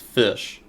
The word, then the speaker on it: Ghoti: I always forget, this is just pronounced Fish. So Fish Runick.